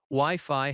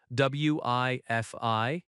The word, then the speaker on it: Wi-Fi: Wi-Fi has stress on both syllables, Wi-Fi, or where is the elevator?